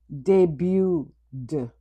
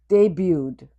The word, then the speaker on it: debuted: Debuted. Debuted. The T is silent.